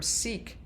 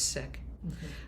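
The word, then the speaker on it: Sikh: it was written by sick activist. People used to use the term seek but the correct pronunciation is sick.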